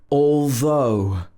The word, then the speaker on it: although: meaning as though and in this word the ought is also pronounced oh although although it was hot